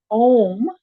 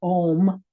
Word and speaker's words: Om: this time and it's going to be done in three parts because it's like three syllables. Even though it's a simple word of om sounds like there's only one syllable to me but really in the Sanskrit language that is it